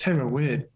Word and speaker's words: Theravada: I've been pronouncing it in exactly the same way, but in Thailand it's Theravada.